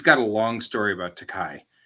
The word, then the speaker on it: Takei: Takai means expensive in Japanese, Yes, I know. He also thanks people for saying right? He's like, mispronouncing it. yes, I am expensive. Yes, that's why I will forever say Takai.